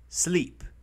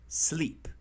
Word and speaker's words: sleep: Tengan cuidado con sleep. No es sleep. Es sleep. Listo. No empiecen esa pronunciación con una E, que no está ahí. Listo. Empieza por S. Entonces pronunciamos con la S.